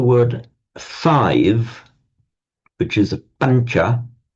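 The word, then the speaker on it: pañca: which is a pancha, we write that tilde sound over the n because it's a slightly palatized sound. Pancha, not pancha or pancha, but pancha. So the n is slightly palatized before the following sound ch.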